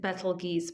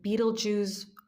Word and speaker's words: Betelgeuse: of Orion the hunter I will pronounce it ble geese but if you feel better pronouncing it Beetle Jews whatever um you just feel what resonates best with you ble geese sits at